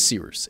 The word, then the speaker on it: Cyrus: My name is Seeroos. It's spelled like Cyrus, pronounced like Seerooster. Just take out the tur.